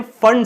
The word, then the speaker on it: Pfund: तो बच्चों इस सीरीज को हम लोग बोलते हैं फंड सीरीज, जिसमें p जो है वो साइलेंट होता है, PFUND इसका नाम, जो स्पेलिंग होती है वो होती है फंड सीरीज।